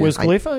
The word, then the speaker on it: Wiz Khalifa: Wiz Khalifa, yeah.